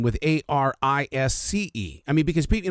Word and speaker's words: Arisce: It's Arisce. It's just Arisce.